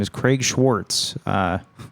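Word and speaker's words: Schwartz: She's like she's like Warz. And he's like Schwarz. My name is Schwarz.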